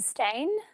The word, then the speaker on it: Steyn: my name is stain uh it's a little bit my name is spelled not the way it's pronounced but that isn't aside